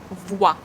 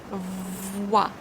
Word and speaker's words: voix: O-E give us wa sound. So we start voix, voix.